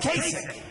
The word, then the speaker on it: Kasich: So they formed this coalition of Cruz against Kasich. even though it's pronounced ICH, it's Kasich with a K, like with a K, okay?